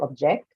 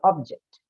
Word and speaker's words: object: like object right so when I have to use it as a verb then as per the rule your shift your stress goes on to the second syllable because it's used as a verb so object and uh if it's uh meant to be used as a noun then ask for the rule the share the stress then moves towards the first syllable so object so object